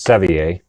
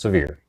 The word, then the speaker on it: Sevier: We're going to go through Sevierville, which is in Sevier County, which I pronounce Sevier, but the good folks in Tennessee pronounce Sevier.